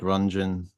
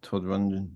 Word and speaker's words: Rundgren: Kind of Todd Rundgren was a big one. I think that's how you say his name, isn't it? Todd Rundgren, Rundgren. I would say Rungeon, but I'm sure somebody will say, "Oh no,